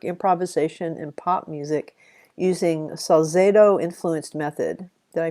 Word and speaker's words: Salzedo: theory ensemble work improvisation and pop music using salzedo influenced method did i pronounce that correctly carlos salzado is a yes harvest yes okay she thinks